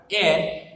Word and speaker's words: heir: लेकिन यहाँ पे HEIR शायद आपके लिए एक नया वर्ड होगा। एयर उसको प्रोनाउंस करेंगे सबसे पहले, और उसका मीनिंग जो होता है एयर यानी उसका जो डिसेंडेंट होता है।